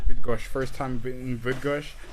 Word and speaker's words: Bydgoszcz: This town, how you pronounce it? Bydgoszcz. Bydgoszcz.